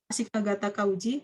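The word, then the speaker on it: 足利尊氏: Ashikaga di sini. Ashinya Ashi betul, ini Ka, ini enggak. Ashikaga, ini Taka. Ini bacanya bukan Shi tetapi Uji.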